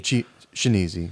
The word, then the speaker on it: Chianese: Chianese. Chianese. We're confusing everybody that just learned how to pronounce my name right.